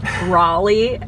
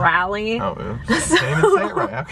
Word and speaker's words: Raleigh: he's going to love raleigh also it's pronounced raleigh not rally i need to learn